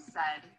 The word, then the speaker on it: said: Let's examine the word said, as in, Mom said to take off your shoes. Said rhymes with words you know, like head and bed.